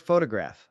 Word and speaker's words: photograph: Take the word photograph. The stress is on the first syllable, phth.